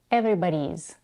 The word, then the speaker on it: everybody's: Everybody's. As she did this earlier, she reduces the vowel in the third syllable to a schwa, everybody's.